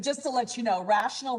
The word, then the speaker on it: rational: to let you know rational rhymes with fractional so 3 can be